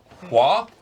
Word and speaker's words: Hoa: Well, I kind of had sort of the opposite effect with Hua. I think people are telling me it's the correct way of pronouncing it.